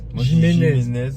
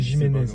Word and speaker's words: Jimenez: Jiménez ou Jiménez ? Jiménez. Ouais, c'est Jiménez. Ça s'écrit Jiménez. Moi, je prononçais Jiménez.